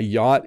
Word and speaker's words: yacht: This is a very hard word to say if you don't know how to say it. You can't sound this word out. But it's just yacht. You can ignore the C and the H.